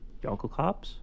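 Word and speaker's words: Jokulhaups: Yunk cops.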